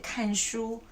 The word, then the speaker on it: 看: 看电视, or to read, 看书, many meanings. But today, I'm going to tell you that actually this character has another pronunciation. It's 看.